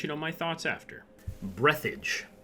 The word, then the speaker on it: Breathedge: know my thoughts after breathage yes that is really how you say it is a single player